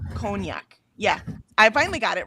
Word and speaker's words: cognac: Cognac. Um it just took me a minute. I'm like I couldn't I couldn't wrap my brain because it's spelled and sounds totally different and I had to wrap my brain around it.